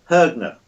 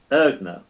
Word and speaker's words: Haigneré: her name is claudia hergner ergner my pronunciation is not right because it starts with an h but the h in french surnames is silent so it's h a